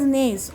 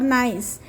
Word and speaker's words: gneiss: नाईस इज, हे बघा याचं स्पेलिंग आहे ग्निएस, GNEISS, बट इट is pronouns as नेस और नाईस.